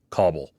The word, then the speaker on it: Kabul: soft sounding vowels so they would generally say Cobble yeah right like you're cobbling something together oh got it okay